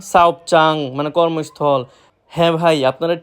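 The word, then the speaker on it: 사업장: ঝিকচাং, ঝাগপচাং, সাওপচাং মানে কর্মস্থল। হ্যাঁ ভাই, আপনারা ঠিকই শুনতেছেন, আমি লাস্টে চাং উচ্চারিত করতেছি। আসলে সবগুলার লাস্টেই চাং উচ্চারিত হবে। কেউ যদি উচ্চারণ করে জাং, সেটা সম্পূর্ণরূপে ভুল।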